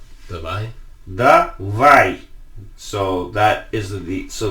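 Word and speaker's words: давай: So that is so like you see how the accent is over the A. Yeah. That just infers that that's the stress syllable, because in Russian you only have words with one stress syllable. We talked about vegetables. Yeah. And then that one there, without that little thing on top of it, that would be E, but it's a Y glide, so davai.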